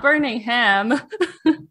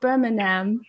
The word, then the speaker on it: Birmingham: was like burning him he's like no not burning ham i think i got it now birmingham birmingham there we go there